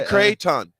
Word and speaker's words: Creighton: it's great it's great just say Crayton Crayton I was like we're